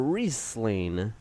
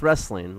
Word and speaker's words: Riesling: Yes, or Riesling, Not pronounced wrestling like I once thought.